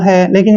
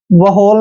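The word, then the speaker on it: whole: एच ओ एल ई अब last का तो हमें पता है ल है लेकिन यहां पर क्या करना है व होल नहीं पढ़ना है यहां पर एच से पहले डब्लू साइलेंट होगा तो इसको हमने पढ़ना है ल ल होल मींस क्या होता है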